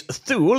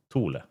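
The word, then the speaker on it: Thule: The Greenland base thul is pronounced tul tul tul tula. Yeah, we pronounce it like the Danish.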